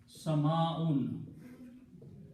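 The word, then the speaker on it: سَمَاءٌ: You have to completely pronounce the word with the last two dhammas, sound of noon. Sama'un.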